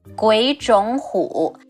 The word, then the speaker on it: 鬼冢虎: 鬼冢虎. It's a bit tricky to pronounce. All three of them are the third tones. The first two becomes the second tone.